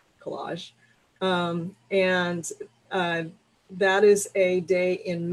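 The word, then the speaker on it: Kolaj: That's something that was started by Collage Magazine, which is spelled K-O-L-A-J, Collage.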